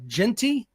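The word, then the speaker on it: Jeanty: Also, the young man from Boise State, which I want to make sure I pronounce his name correctly. It's Genty, 95 carries, 1,031 yards, 16 touchdowns.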